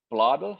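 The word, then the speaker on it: Blædel: and you know Sarah blood how do you pronounce the name bladder yeah sorry okay well well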